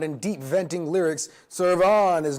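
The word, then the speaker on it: Cervon: Next up, we got Serve On, which I'm pretty sure is how it's said. Serve On with a C, E-R-V-O-N.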